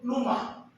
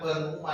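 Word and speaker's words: pneuma: Atau dalam bahasa Ibrani disebut numa. Bacanya jangan peruma ya. Numa. P-nya hilang.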